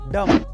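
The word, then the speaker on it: dumb: And last नंबर four, अगर किसी word में एम के बाद बी आए तो उसमें बी साइलेंट रहता है, जैसे कि बॉम, बॉम, थम, डम।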